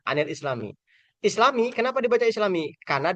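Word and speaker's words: عَنِ الْإِسْلَامِيِّ: Kemudian an alislami ya. Cara bacanya anil islami.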